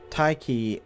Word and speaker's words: Tyche: Tyche is a letter-swapped spelling of an ancient Greek word that represents the Greek deity of fortune, which is why I'm pronouncing it that way, by the way.